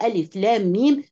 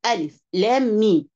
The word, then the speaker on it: الم: عليه وسلم مش كده فتبدا اول سوره البقره ال لام م بتنطق باسماء الحروف ال لام م سوره الشرح بننطقها بمسميات الحروف فنقول الم نشرح لك صدرك نقول الم ترى كيف فعل ربك باصحاب الفيل لكن هنا بنقراه بنقرا الحروف بايه باسمائها وليس بمسمياتها زي سوره الشرح وزي سوره الفيل طب